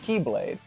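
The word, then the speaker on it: χ-blade: that x that well it's the greek letter for x so there's the that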